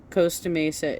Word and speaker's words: Costa Mesa: Costa Mesa is the correct way to pronounce it.